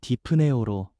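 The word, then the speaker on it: δειπνέω: 먹는다라는 헬라어 발음은 디프네오로 단순한 식사가 아니라 가장 친밀하고 깊은 교제와 화평을 상징합니다.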